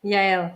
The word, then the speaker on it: Yale: today can and uh yale that is how you pronounce your name right yale yale yeah you can say yeah like the university okay every time i